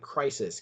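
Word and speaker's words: κρίσις: It looks like crisis, Krisis, with a K instead of a C, but it's pronounced crisis. And it says this: judgment,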